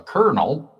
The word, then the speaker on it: colonel: Or a colonel spelled like Colin L yet said like popcorn kernel.